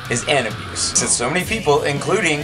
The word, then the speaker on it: Anabus3: way it should be this is how to pronounce Ann abuse that's right the band name is Ann abuse since so many people including a member or